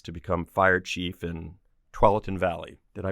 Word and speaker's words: Tualatin: You rose through the ranks to become fire chief in Tualatin Valley. Did I pronounce that correctly? Tualatin.